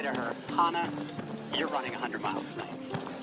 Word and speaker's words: Hana: Her name is Hana. Rhymes with the city in Hawaii, but spelled like the Old Testament name Hannah. But it's Hana, and Hana is her name.